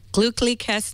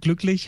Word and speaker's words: glücklich: you know the word glücklich has two sounds in it that are really, really hard to That we don't pronounce do. for Americans. Yeah. So there's the U umlaut, which is Ü, and then there is the CH, which is so it's glückliches neues Jahr.